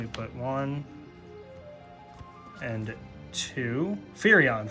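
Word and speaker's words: Firion: Hope Estum, we got two Freons. Let me put one and two. Furion. Furion. I've been saying his name wrong this whole time.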